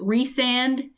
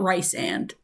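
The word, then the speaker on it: Rhysand: the whole entire book it's reand and not Rand and I'm going to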